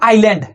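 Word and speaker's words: island: इसको बोलते हैं नॉर्थ आइलैंड आइलैंड मतलब क्या होता है द्वीप होता है साथियों यहां एस साइलेंट रहता है साथियों यहां एस क्या रहता है साइलेंट और इसको बोलते हैं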